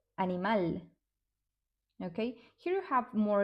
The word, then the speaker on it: animal: Okay, so Spanish words that end in al are stressed in the last syllable. For example, animal.